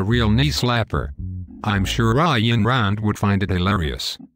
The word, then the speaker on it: Ayn: Her name is pronounced Ayn, not Ayn. No, I'm pretty sure it is pronounced Ayn.